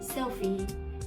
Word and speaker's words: Sophie: But for S-O-P-H-I-E, and that should be Sophie. Sophie. So this one, the stress is different.